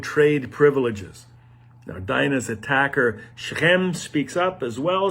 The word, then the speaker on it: Shechem: piece of land near shechem or shechem shechem is how it's pronounced in israel from the ruling tribe